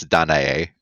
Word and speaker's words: Danae: Her name only fits in the syllabic count if you pronounce it correctly, and it's Danae. Oh, okay, Danae.